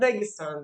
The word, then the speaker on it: Dagestan: I need to pronounce it properly. Originally, I'm from Dagestan, the south part of Russia.